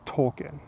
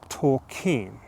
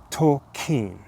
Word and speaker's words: Tolkien: both Jessica and I thought that the correct pronunciation of his name was JRR Tolken, but it turns out in preparation for this video, we learned that it was actually JRR Tolken. Tolken.